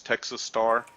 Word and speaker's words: TX Star: of the new year I am now going by TX star or pronounce Texas Star call me Texas call